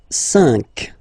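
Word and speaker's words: cinq: So you get this c but then the sound that you will pronounce is ka. Okay. Catra. All right. And next sank.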